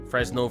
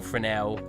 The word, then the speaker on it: Fresnel: Fresnel, Fresnel. Technically, it's pronounced both ways.